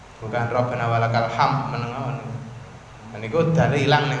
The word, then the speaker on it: hamd: Rabbana walakal hamd. Bukan ham biasa, tapi ada huruf dal. Jangan lupa ada huruf dal di belakangnya. Rabbana walakal hamd. Biasanya kekeliruannya apa? Terkadang dalem mboten diucapkan. Seolah-olah dalnya itu hilang.